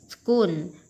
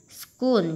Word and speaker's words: school: Which, which, school, school, chữ chờ này đọc là âm k.